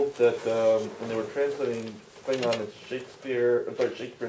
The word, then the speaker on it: Klingon: So in my mind, the correct way to pronounce Klingon is the way I say it, or the way Christopher Lloyd says it, because he was first.